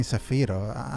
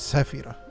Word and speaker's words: Sefiro: keep saying SEO most people call me sefo and I don't mind it honestly it's it's I'm not expecting for people to understand things outside their their framework you know if you understand syllables in English go for it I'm not going to mind that but but my my name is Safir you know and I